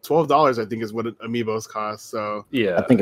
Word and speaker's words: amiibo: It's Amiibo. Coming out. Amiibo is pronounced.